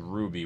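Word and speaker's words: RWBY: It's the theme from season 3 of a show called Ruby, which is spelled R-W-B-Y, which a friend introduced me to, and I was discussing it with it.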